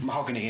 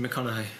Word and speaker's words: McConaughey: It's got Matthew Mahogany in. Matthew McConaughey, that's pronounced.